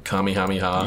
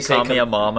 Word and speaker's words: kamehameha: that that video of that guy horribly mispronouncing kamehameha yes did he call me a mama or something like that